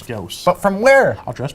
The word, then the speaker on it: Gauss: When they first came out, gauze. I found out later on it was Gauss.